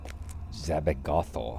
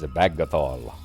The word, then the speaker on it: Zabagathol: Zabagathol, huh? I think you're mispronouncing it there, my lady. It's Zabagathol.